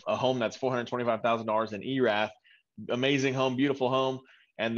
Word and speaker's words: Erath: Oh gosh, Erath, is that? Yeah, up by Boyd and all that. Like Erath. Elath, how do you spell that? Erath, ERATH. ERATH.